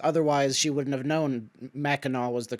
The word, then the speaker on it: Mackinac: Otherwise, she wouldn't have known Mackinac was the correct pronunciation, right?